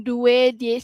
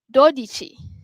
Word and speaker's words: dodici: Okey next 12 okey dia bukan dui tapi dia dodici.